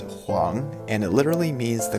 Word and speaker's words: 黃: common chinese surnames number seven this character is pronounced huang and it literally means the color yellow it's